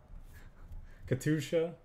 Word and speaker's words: Katyusha: why I put in the you I guess Katusha how have we been playing this deck for